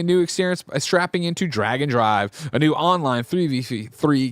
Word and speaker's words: Drag x Drive: new Nintendo game drum roll please Mike it's drag and drive now you might look at it online and say that's drag X drive so clearly it's drag Cross Drive but Nintendo goes out of their way to